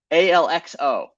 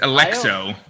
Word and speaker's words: ALXO: Like the biggest whale, like ALXO, right? It's Alexo. That's what I always thought his name was like Alex, like O, and that was just how he cut it.